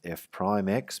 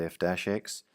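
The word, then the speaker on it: f′(x): write it as f dash X it's actually pronounced f prime x but most people call it f dash X Y prime or y dash or dy over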